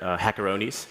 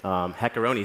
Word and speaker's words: HackerOne: At HackerOne, we call each other HackerOnies. It's the common mispronunciation of our company name. HackerOne sounds kind of delicious, though, but yeah.